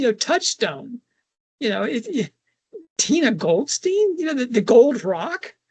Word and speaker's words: Goldstein: Um, I'm giving that the German pronunciation, you know, Goldstein. Goldstein.